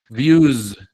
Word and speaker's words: views: Views. Views. Una Z. Views. Es una Z.